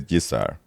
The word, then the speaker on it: Gesare: so what Siri says when I do that is it mispronounces your name. It says Gisar. That's what I hear mostly. That's Okay. that's my name in North America. That's what people call me.